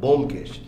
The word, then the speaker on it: ব্যোমকেশ: একটু মাথা রাখতে হবে বোম বোম ব্যোমকেশটাকে স্যার আই উচ্চারণ ঠিক করো সরি স্যার বোম না ব্যোমকেশ ব্যোমকেশ তো হ্যাঁ যেটা